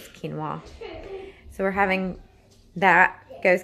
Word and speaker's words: quinoa: gonna have Kim mwah I call it ki know the whole family cause like you know I know it's fine I know actually it's not how you say it but I think the right word is quinoa so we're having that